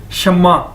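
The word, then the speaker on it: 什么: ये Chinese word है और इसको प्रोनाउंस कैसे करेंगे? इसको बोलेंगे कैसे? शम्मा। जिस तरह के एक नाम भी है शम्मा।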